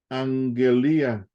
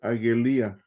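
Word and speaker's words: ἀγγελία: Y cuando tenemos dos gamas juntas, hermanos, se pronuncia la primera gama como N. Angelía. Sí, no vayan a decir Agelía, es Angelía.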